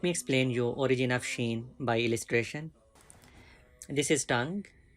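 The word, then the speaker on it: شين: Sheen, please spread sound like sheen. To spread sound, it's very important.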